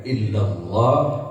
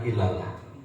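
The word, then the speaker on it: إلا الله: Yang panjang-panjangkan, yang pendek-pendekkan. La panjang, ila panjang, ha pendek, illallah panjangkan, tafkhimkan, tebalkan. Jangan ilallah.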